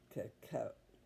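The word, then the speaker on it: cacao: this says intense dark and it's caca is what it's how you pronounce it and that's what you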